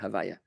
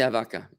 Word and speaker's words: Havaya: a question from winston do we pronounce havaya to havaka no we don't would you say havaya hawaii it's fine interesting question there havaya we don't say havaka good question or you